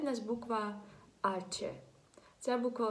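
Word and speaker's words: hache: Далі в нас буква «аче». Ця буква в нас дуже особлива, вона бідна, навіть в своїй назві не вимовляється. «Аче». Так? Ми не кажемо «хаче», ми кажемо «аче».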